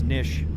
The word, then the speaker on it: niche: A lot of people don't know how to pronounce niche. It's just like fish.